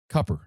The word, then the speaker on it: Cooper: When people say the word cuppper, they kind of say it like that. Is that a New Orleans thing or is that the official pronunciation? I I think it's redneck for Cooper.